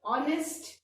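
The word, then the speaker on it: honest: अब आप ध्यान से देखो, ऑनेस्ट, इसमें किसका साउंड आया? ओ का साउंड आया। ओ क्या है? ओ इज अगेन ओ का साउंड आ रहा है, वावल का साउंड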